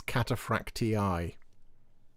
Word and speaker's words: Cataphractii: Both of these kits also include Cataphracti upgrades. is wrong. It's Cataphractii. That's how you pronounce that.